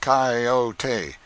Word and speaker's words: coyote: rightly this latter was the regular coyote pronounced coyote of the farther deserts